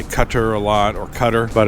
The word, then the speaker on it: Qatar: in America we say cutter a lot or Cutter but it's um two separate words unless it's Qatar Qatar each syllable has the same emphasis Qatar Qatar tell me one